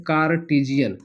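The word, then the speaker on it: Cartesian: कार्टजियन plane spelling पर बिल्कुल भी नहीं जाना है।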